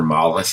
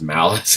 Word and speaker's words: Malice: idea at the end his name was never mollis it was malice which makes a lot